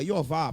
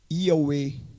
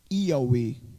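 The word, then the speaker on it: יהוה: Mas o nome mais pronunciável seria Iová, porque o tetragrama é YHWH. Aí se pronuncia YI. Yud, Re, Vav, Re. Se for tentar falar, vai ser Iauê. Iauê.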